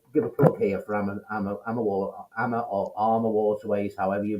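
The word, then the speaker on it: AmaWaterways: AMA Waterways. AMA AMA Waterways. Waterways. We spell it out. AMA Yeah, Waterways. we Armour spell it. Waterways. You say Emma. Yeah, I'm trying to get in the habit of doing it your way since you're over there.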